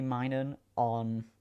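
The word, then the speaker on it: Minun: I'm pretty sure I've got a shiny min on or min. I don't know how you pronounce it. I say mining cuz it's like minus.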